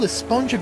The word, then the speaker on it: esponja: that's what this whole esponja Grande thing has been about huh actually it's pronounced with an H sound at the end really but we've all been saying a sponge up yes I know it's